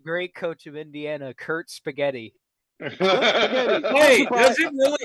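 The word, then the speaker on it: Cignetti: Yes, the great coach of Indiana, Kurt Spaghetti. Hey, does it really? His last name sounds like spaghetti.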